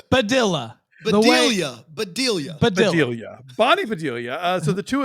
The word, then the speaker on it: Bedelia: Badilla? Badilla. Bedelia.